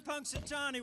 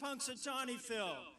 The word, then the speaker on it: Punxsutawney: serious about the weather but first you're in Punxsutawney which is a difficult name to spell in fact it's so long we can only put Punxsy phil but it's Punxsutawney Phil so let's spell it so you can go